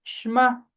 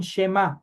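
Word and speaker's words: שמע: Esa palabrita que aparece como escucha se pronuncia shma. Sí, aunque algunos dicen shema, pero la pronunciación propia es shma.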